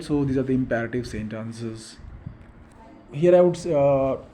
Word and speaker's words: imperative: are called as imperative though most of the Indian students pronounce it as imperative it's not imperative it's imperative and such sentences are